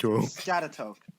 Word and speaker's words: Schaghticoke: Skagatoke. Scatatoke. Skagatoke. Oh my god. This is horrible. Apparently it's pronounced Scatatoke.